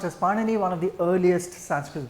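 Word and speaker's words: Pāṇini: So if you look at pardon me um if you want the diritical markers then so it's pronounced as panini one of the earliest Sanskrit grammarians well some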